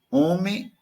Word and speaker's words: homem: Olha, homem para nós é com H. Tem um H. Mas se eu não pronuncio, vamos tirar, vamos abolir, proscrever.